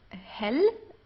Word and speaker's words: hell: we have um the words hell uh which means light okay it's not like the English word hell it's um that would be H in German here this is hell